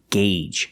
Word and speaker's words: gauge: engine is turning and remember the pronunciation gauge use the long a sound one gauge and two gauges make sure you check your